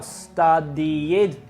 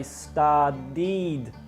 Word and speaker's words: studied: Now, studied is bad pronunciation. It should be I studied and not studied.